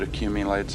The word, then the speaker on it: accumulates: that white stuff that accumulates at the corner of your mouth the a in accumulates is reduced to a rather than a since it occurs in an unstressed syllable uh uh and that